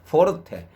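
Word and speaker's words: forte: 부르느냐 세 개 포르테 포르 포 포 포르테 발음이 포르테 예전에 우리 왜 포르테 이러면은 기아 자동차에서 나왔던 그 좀 작은 1500cc 정도짜리의 성용차 이름이 아마 포르테였던 거 같아요.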